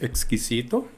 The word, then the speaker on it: exquisito: Por exemplo, temos exquisito, que em português é com S, né? E em espanhol com X. Então isso faz a diferença também na hora de pronunciar.